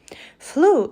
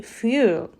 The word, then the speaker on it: fuel: highlights our wrong pronunciation flu should be fuel red underlines are grammatical